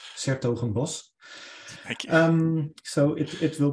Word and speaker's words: 's-Hertogenbosch: The correct pronunciation is 's-Hertogenbosch.